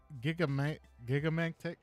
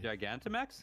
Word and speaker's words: Gigantamax: Because I mean, like Gigamantix from Sword and Shield. I don't know if I'm saying it right. That was kind of weird. Gigantamax?